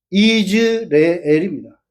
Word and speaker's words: 이스라엘: 구약 성경에 시 신약 성경에 오게 되면 이방인들이 가지로 전목을 당해 가지고 그것을 이스라엘과 구별을 해서 계획 성경은 이스르엘로 되어 있는데 실제 발음은 이즈레엘입니다.